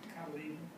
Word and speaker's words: cotyledon: How do you pronounce it? Cotyledon.